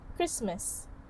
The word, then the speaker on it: Christmas: So hence that is why it becomes sandwich instead of pronouncing the d sound. Sandwich. Sandwich. The fourth word is Christmas.